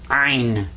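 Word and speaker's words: عين: And this guy's name is Ein. In ein, you kind of squeeze the back of your throat when you pronounce this one.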